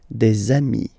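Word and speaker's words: des amis: got dei okay and if you make the the leazison so the link between the two you will get desami okay dei So ami remember doesn't change even if you've get to write the s then you don't pronounce it.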